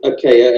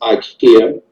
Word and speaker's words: Akea: My middle name is Akea. Everyone pronounces IKEA. I don't know where you see IKEA at in my name. I don't know what these kids get that from. It's an American thing. Americans always, you know, do the name completely wrong.